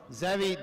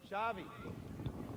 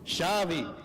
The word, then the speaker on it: Xavi: I think it's Zavi. Shavei. Shavey. I want to get the pronounce pronunciation right. I've had people call me eggs. So, want to be really respectful. So, Shavey Shavey Downey, Jordy Mason, and Elliot Taylor.